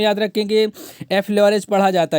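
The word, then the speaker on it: effleurage: पीठ पर जो मालिश करने के लिए जो उपयुक्त तकनीक अपनाई जाती है, ठीक है, तो उसको एफ ल्यूरेज पढ़ा जाता है।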